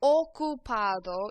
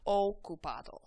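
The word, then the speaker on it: ocupado: o is an occupied the O in Spanish always makes an o sound okup so your mouth's going to look like a very o shape o repeat on okup okup very good now we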